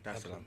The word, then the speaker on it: Dar es Salaam: of the 7th, to come straight to Tanzania, Dar es Salaam. Did I pronounce that right? Yeah. Dar es Salaam.